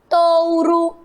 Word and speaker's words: touro: vamos lá mais palavras touro olha aqui o primeiro o tem som de Ó mas o último tem som Gil touro o urso pássaro